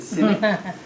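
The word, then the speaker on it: Sinek: not cynic but yeah you pronounce it cynic um so he was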